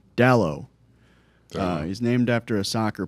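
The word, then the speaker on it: Dalot: boy what's his name Dow he's named after a soccer player uh it's spelled D A L O T so the t is silent uh it's a it's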